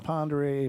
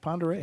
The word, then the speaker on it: Pend Oreille: Well, they didn't mention the Pend Oreille Paddler.